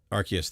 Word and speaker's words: Arceus: I can never pronounce that. Is it Arceus? Arceus, thank you.